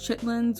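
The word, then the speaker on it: chitterlings: me being included now I've heard these being pronounced in different ways but they are pronounced chitlins when I was growing up so that's what I'm going to call them and this is a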